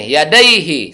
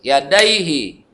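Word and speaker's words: يديه: dibaca Mad Silah qasirah pendek bacanya yadaihi Satu ketuk yadaihi bukan di ada yg salah kalau sampai dipanjangkan dagingnya mata salah Hai Kecuali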